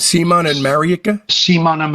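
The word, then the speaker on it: Marijke: So you were with Simon and, how do you pronounce their names? Simon and Marieke? Simon and Marieke, yeah.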